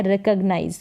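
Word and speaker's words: recognize: रिकॉग्नाइज इसका जो है रिकॉग गनाइज करके पढ़े लेकिन करेक्ट उच्चारण मैंने यहां पर दिया है रिकॉग्नाइज क्या है रिकॉग्नाइज यहां पर ग भी है रिकॉग्नाइज मतलब पहचानना रगना इज कॉग करके ना पढ़े सीओ जीी को रिकॉग्नाइज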